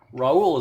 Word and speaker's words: Raul: Raul is like Paul, unless you would pronounce Paul.